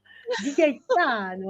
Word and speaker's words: Gaetano: Di Gaetano avec la musique qui va avec, à l'italienne.